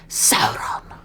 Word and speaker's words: Sauron: His name is Sauron. It is. If you don't roll the owl and sound. Sauron. Yeah, if you don't say it the way Galadriel says it, you're not saying it right.